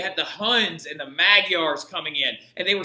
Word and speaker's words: Magyar: For example, the Magyars settled the common-day country now known as Hungary, because they literally call their country Magyar, right? So, like, that is how you say it in Hungarian.